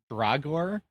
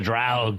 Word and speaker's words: Draug: I can't pronounce it, but I'm going to butcher it, but it's like the Dragor. Oh, the Draug, yeah.